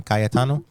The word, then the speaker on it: Cayetano: And we've also got Cayestano. Is that how you say it? Yep, you got it.